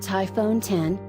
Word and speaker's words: iPhone X: And with its radical redesign, the iPhone X, pronounced iPhone 10, leapt two more numbers up the scale, leapfrogging 9 altogether.